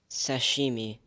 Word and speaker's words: sashimi: are there any alternate pronunciations there are no alternative pronunciations sashimi s a s h